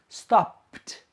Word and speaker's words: stopped: Well, when the verb ends in a voiceless sound, the ed form is pronounced t, t. For example, stop, stop. The final sound of stop is p, p, p. It's a voiceless sound, so you pronounce the past. Stopped, pt, stopped.